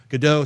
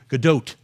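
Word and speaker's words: Gadot: get all these people gdau sorry it's always hard to say her name right it's G GDOT right got to pronounce that t um get them on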